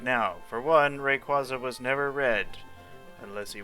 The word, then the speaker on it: Rayquaza: For one, Rayquaza was never red, unless he was. So, also apparently it's pronounced Rayquaza, but you'll have to drown me before I'll pronounce it that way.